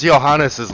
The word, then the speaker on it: Johannes: What was Johannes's last name? Because even though it's pronounced Johannes, it begins with a J.